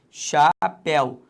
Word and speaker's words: chapéuzinho: Repare, chapéuzinho. Deixa só eu te beber um golinho de água aqui, já vou beber, quando eu chegar lá eu bebo, é melhor. Zinho. Então a sílaba tônica é o zi.